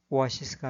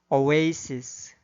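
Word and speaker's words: oasis: 주어진 단어의 경우에도 인디애나폴리스가 아니라 인디애나폴리스, 사우디아라비아가 아니라 사우디아라비아, 암스테르담이 아니라 엠스터담, 리오데자네이로가 아니라 리오데자네이로, 소크라테스가 아니라 사크라테스, 오아시스가 아니라 오에이시스, 메르세데스가 아니라 머세디스로 발음해야 합니다.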